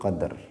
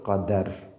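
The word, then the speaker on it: قدر: oleh orang mengatakan lailatul qadar. Padahal ayatnya sudah jelas. Inna anzalnahu fi lailatil qadri. Bukan lailatul qadari. Lailatul qadri khairum min alfi syahr. Maka berarti bacanya lailatul qadr bukan lailatul qadar.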